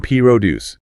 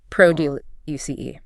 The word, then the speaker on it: produce: But if you are talking about the action of generating or making something, the verb, the stress shifts entirely to the second syllable, pro du uce. So, a farm will pro du uce high-quality p r o duce.